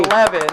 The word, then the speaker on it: Levin: Corey Levin. Our final show before hiatus. Not Levine. Corey. There's Sam Levine, Corey Levin, Yes. and what? Anyway, Levin. and also, the thing, and they're all spelled the same.